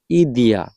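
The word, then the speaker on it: идея: তো এই আইডিয়া এই ইংরেজি উচ্চারণের সাথে কিছুটা রাশিয়ান উচ্চারণের মিল আছে। সেটা হচ্ছে ইদিয়া, ইদিয়া।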